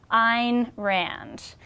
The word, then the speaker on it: Ayn Rand: keeping with her philosophy the correct pronunciation of her name rhymes with the word mine so keep that in